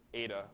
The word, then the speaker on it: eta: And again, this is called the efficiency, and it uses this Greek eta, which is the Greek letter that pronounces like E, but it looks like an N.